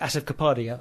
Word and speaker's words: Asif Kapadia: And I think director Asif Kapadia, I think is how you pronounce his name, he's done a beautiful job with this.